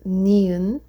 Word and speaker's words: 니은: And next one is 니은. That makes the sound like N, so name.